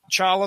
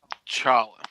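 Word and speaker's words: T'Challa: here you learned about chawla the Black Panther I'm noticing that you calling him Charlie the T I believe is silent sir on the movies and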